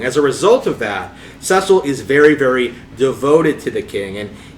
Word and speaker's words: Cecil: If you're not aware, so Final Fantasy IV is the story of a young man named Cecil. According to the DS pronunciation, the DS voice acting, a young man